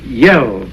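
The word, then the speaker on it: Yehl: was telling was one of their great characters yell you spell that y-e-h-l up in the northwest among those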